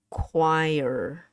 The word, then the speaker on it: choir: When you say this choir, choir, and this is how you pronounce it. Choir. Two syllable. Two syllable. One word, but two syllable.